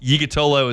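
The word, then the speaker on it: Yiğitoğlu: It's hard to pronounce, but Yigatolo is what it says on the pronunciation guide.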